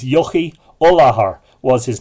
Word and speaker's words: Echu: And, well, it's spelt Echu, E-C-H-U, but I think the proper pronunciation is Yochi Olahar was his name.